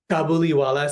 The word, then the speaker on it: Kabuliwala: Kab kubiwala. Kabuliwala.